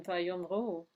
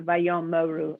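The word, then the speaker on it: וַיֹּאמְרוּ: All right, Sharon, Vayomru. Okay. So the schwa under the mem is not pronounced then. That's right. It's not vayom moru.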